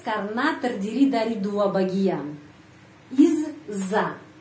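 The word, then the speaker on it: из-за: terdiri dari dua bagian Iz Za Izza bacanya Izza huruf Za panjang Izza Izza Izza artinya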